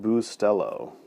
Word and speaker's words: Bustelo: yeah set pay-to-play thing it's pronounced bustelo it's really Stella be